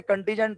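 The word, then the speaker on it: contingent: liability आपको नहीं पता कंटिजेंट लायबिलिटी में एन साइलेंट है कंटिजेंट पढ़ते हैं और इसका मतलब होता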